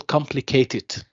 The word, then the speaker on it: complicated: Okay, when I say, for example, complicated, so what is the stressed syllable? Complete. Okay, so the first syllable or the second syllable? First. First, okay, good.